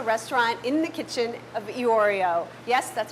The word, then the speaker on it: Iorio: the popular restaurant In the Kitchen of Iorio. Yes, that's how you pronounce it.